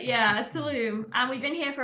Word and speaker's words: Tulum: you're in beauty of tulum is how you pronounce it tullum yes yeah tulum i think there's like a little um at the end of it yeah tulum and we've been here